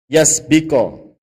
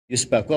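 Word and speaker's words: يسبق: Innama naha Malikun li alla yasbiko ila wahmil jahil. Yusbaku apa yasbiko bacanya? Yasbiko ya.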